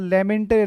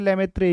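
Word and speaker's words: Lemaître: हाँ, लेमेंटर लेमेत्रे एक ही बात है, ठीक है ना, वो कोई दिक्कत नहीं, वो प्रोनाउंसिएशन का फर्क हो जाता है।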